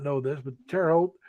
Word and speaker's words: Terre Haute: not know this but Terre Haute is French and in French terror is land it's spelled t-e-r-r-e it's tear not Terry and how old is h-a-u-t-e and the Hulk just means High there's actually backwards from the English instead of saying High land they said land High that's